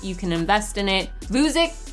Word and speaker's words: Vuzix: Vuzix Corporation. I don't know if I said it right, but I call it Vuzi, but the ticker symbol is VUZI, and I like this one.